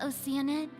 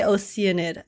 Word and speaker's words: Oceanid: Did you say Oceanid? Yeah, that's how they all pronounce it. I still pronounce it Oceanid, but they all say Oceanid.